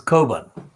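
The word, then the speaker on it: Cockburn: type paper of course the kerbans spelt c-o-c-k b-u-r and burn but it's an irish so its pronunciation is carbon and the kobans in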